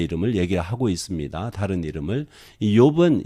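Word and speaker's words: אִיּוֹב: 이 욥은 히브리어로 하면 이욥, 이씨가 되네요. 이렇게 발음해요. 두 음절이 나와요. 원래는 이욥.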